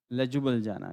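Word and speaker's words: Ljubljana: लेजुबल जाना, यस लेजुबल जाना ही है, लेजुबल जाना।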